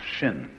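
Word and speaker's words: 心: please pacify my mind in chinese mind is um this word pronounced shin and shin is here shin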